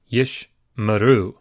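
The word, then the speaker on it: יִשְׁמְרוּ: The second Sheva is the second in two consecutive Shevas, and so it is pronounced yish maru.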